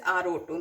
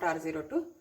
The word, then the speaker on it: RO2: You pronounce it as RO2, not R02.